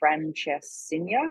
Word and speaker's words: francesinha: And they also have something here called a francesinha. How do I pronounce it?